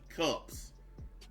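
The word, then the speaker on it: Kupps: these all right this woman is named amy cups and i'm it and it's spelled k-u-p-p-s i didn't want people to think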